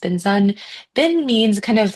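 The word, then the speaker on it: bình dân: So BIN, or how it's spelled in it looks like BINH and space DAN, but it's pronounced Binzun.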